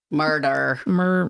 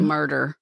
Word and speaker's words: Murdaugh: Their name is spelled, it's Scottish, I guess. M-U-R-D-A-U-G-H. But I think it's murder.